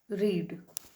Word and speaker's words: read: Children रीड का रीड ही होता है लेकिन हम इसको प्रोनाउंस रेड करते हैं. ओके इसका स्पेलिंग रीड ही रहता है, READ ही रहता है, लेकिन हम प्रोनाउंस जब करते हैं तो हम कहते हैं रेड.